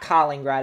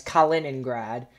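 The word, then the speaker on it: Kaliningrad: back to Colleen rod it's not Colleen right it's Cullen and grad I just say Collin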